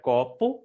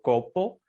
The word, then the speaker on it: copo: Y en Mm, portugués, copo, tenemos la palabra copo, que se pronuncia copo y no copo, pero que se asemeja al español sí, y que significa vaso, o sea, en vaso.